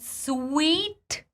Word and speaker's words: suite: and we see that sweet is pronounced absolutely the same as sweet I know it's mindblowing